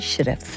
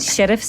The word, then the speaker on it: Shirreffs: to be joined by the very talented sheriffs how are you I'm fine thank you I did pronounce that correctly you did sheriffs is a bit of an odd one it's